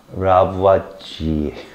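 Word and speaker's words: Lavoisier: 어떻게 알아요 라바 지 라브와지 알았어요 발음 꼭 끝에 날려 줘야 돼요 라지 알겠어요 근데 그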